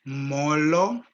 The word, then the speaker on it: Molo: and we all say Molo. Molo. Molo. Molo. Molo. Okay, again, Molo. Molo. Molo. Molo. So if you're greeting one person, you say Molo. However, if it's more than one person, you say Molweni.